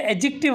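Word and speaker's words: adjective: ये एडजेक्टिव words है, डी यहाँ पे साइलेंट होता है, ठीक है।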